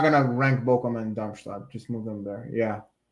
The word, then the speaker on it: Darmstadt: Darmstadt. Is that how you say it? Darmstadt, yeah.